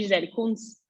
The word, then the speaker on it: Gisele Kunz: É assim mesmo que pronuncia, Gisele Kunz?